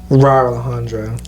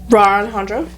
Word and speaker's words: Alejandro: to say his name so she goes Roar Alejandra yeah she goes wrong Alejandro Alejandro Alejandro oh my God speaking of Alejandro